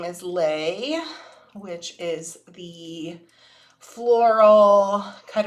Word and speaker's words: Lei: Um, mom's name is Lei, which is the floral kind of necklace that um that Hawaiians wear or greet you with.